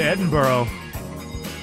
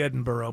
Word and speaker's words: Edinburgh: Well, it's Edinburgh. Listen, if you want it to be Edinburgh, put a B-O-R-O at the end.